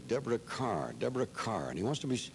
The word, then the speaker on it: Kerr: announcer said that's Deborah Carr and the kids said what is spelled ke and he said I know it looks like Kerr but take my word for it it's car so the kid thanked